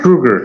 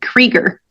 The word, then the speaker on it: Kruger: A best friend of mine from college spells his last name the same thing, and he pronounces it Krieger.